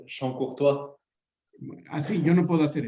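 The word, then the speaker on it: Chancourtois: Luego, Charcontra, Toño, ¿lo podría pronunciar mejor, por favor? Es Champ-Courtois.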